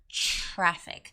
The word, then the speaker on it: traffic: I tell my students, be careful with the TR pronunciation. It's not traffic, right? That sounds more like Italian or maybe Spanish. You have to sound like traffic. So it's more like a CH sound. Traffic, traffic, traffic.